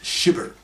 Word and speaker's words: SHyBber: that is the term SHyBber. That's capital S, capital H, little y, capital B, little b, er, pronounced SHyBber, that is a sexist, hypocritical bigot.